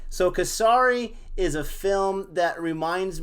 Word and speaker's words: Kesari: Kesari. I think that's how you say it. Very good. Kesari.